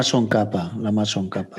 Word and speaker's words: Tsongkhapa: sé si pronunciar, como no lo voy a pronunciar correctamente. Lama Tsongkhapa.